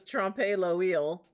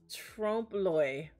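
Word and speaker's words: trompe-l'œil: look it up again i always said this trumpet low eel but it's not it's like trump trump lloyd trump loy which is an art technique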